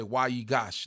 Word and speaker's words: Wayigash: the proper pronunciation well it's definitely a w sound but that's that's a